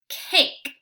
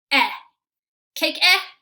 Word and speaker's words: cake: this word together a cake it's a cake very good so let me go back to that real fast remember super silent E tells me that I don't say it let's pretend like I